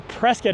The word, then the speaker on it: Prescott: So stay tuned as we explore Prescott, or as the locals say, Prescott, Arizona.